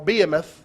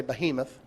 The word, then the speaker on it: behemoth: two creatures one is called the behemoth or beimeth depending on how you pronounce that i say behemoth and in chapter 41